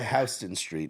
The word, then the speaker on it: Houston Street: right by Houston Street, not Houston. They call it Houston there, which is again odd. It's spelt like Houston, but I even used to call it Houston Street. My dad was like, "No, it's Houston."